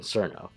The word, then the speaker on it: Cirno: size of one so i'm making massive assumptions quino apparently sounds much cooler than cerno so this pronunciation is chosen due to it filling kill